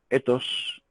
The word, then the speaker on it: ethos: La ética, esa sí viene del griego, viene de ethos en griego, que se escribe E-T-H-O-S. Ethos.